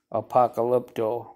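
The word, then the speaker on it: apokalupto: w is an o so that's how you pronounce it APA call lip toe Apocalypto and then this one here is 602 and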